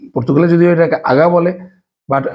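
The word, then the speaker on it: Belém: রয়েছে এটাকে আমরা অনেকেই বেলেম বলে জানি এর আগেও আমরা কিন্তু বলেছিলাম কিন্তু একচুয়ালি এর উচ্চারণটা হবে বেলে কেননা কোন শব্দের শেষে যদি এম থাকে সেক্ষেত্রে এটার উচ্চারণ হয়ে যায় আই এর মত ঠিক তেমনি হচ্ছে ভ্রমণ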